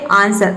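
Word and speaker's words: answer: साथ ए जाए तो वहां पे तो ब्लू साइलेंट राहत है जैसे की देखिए यहां पे है आंसर आंसर इसका क्या होता है उत्तर तो यहां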